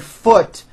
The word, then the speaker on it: foot: okay but the word foot is also spelled with a double O but it is pronounced with a lower vowel sound uh foot food foot